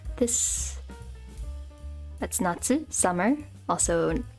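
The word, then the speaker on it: 夏: there's oh wait goes like this that's Natsu summer also pronounced cotton get this is Autumn Aki or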